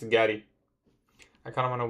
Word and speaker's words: Gatie: Pronounce Gatie? It's Gatie.